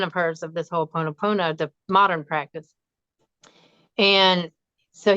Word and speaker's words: Ho'oponopono: I can pronounce it, but I always screw it up. Ho'oponopono.